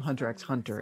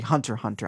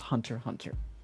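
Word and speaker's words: Hunter × Hunter: um my saying of hunter x hunter it's actually hunter hunter i just say x because the x is just there but for my understanding it is pronounced hunter hunter so those are the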